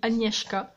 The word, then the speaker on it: Agnieszka: a fait ses remerciements ça se dit annie hk et et du coup